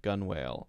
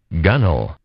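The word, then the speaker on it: gunwale: thing that looks like gun whale i have no idea what this word is this is killing me i'm gonna die uh gunnel gunnel yeah so it's got a rhyme right the upper edge of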